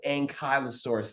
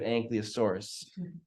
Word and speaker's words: ankylosaurus: close if he had just known that it's pronounced ankylosaurus instead of anosa surus fun fact I did not know that uh